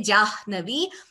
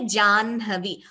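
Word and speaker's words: जाह्नवी: And similarly in Janhavi, we don't say Jahnavi, we say Janhavi.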